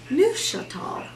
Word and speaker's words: Neufchâtel: lower fat cream cheese nu chateau yes that's how you say it chateau french i am not i had to actually listen to it a long time ago to make sure and before we did this i listened again to make sure i was still saying it correctly so i have some